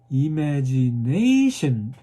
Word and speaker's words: imagination: 예, 하나 고르는데 어디에 주냐면 imagination 그 소리에다 스트레스를 줘야 돼요.